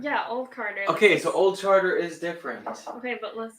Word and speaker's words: Old Charter: but for some reason I pronounced it old Carter instead of Old Charter no way hold on